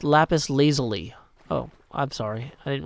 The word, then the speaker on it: lapis lazuli: It's pronounced lapis lazuli.